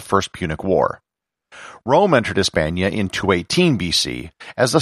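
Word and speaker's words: España: of france was hispania the word for spain in spanish is espana and considering that the letter h is silent in spanish the name of spain today is pretty much the same word that the romans used for the land it is also obviously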